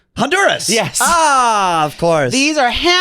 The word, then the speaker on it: Honduras: It sounds like the H is silent. Honduras.